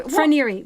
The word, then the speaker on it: Fonterra: I think it's Fonterra. So Fonterra with an F-R.